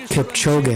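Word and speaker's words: Kipchoge: we have one minute to go Elliot Kip chog is on his way here this humble farmer chog that's how you say his name ellot go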